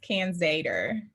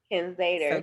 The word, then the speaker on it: Canzater: So it's Can Zader. Can Zader. So can like the can of food, and then Zader.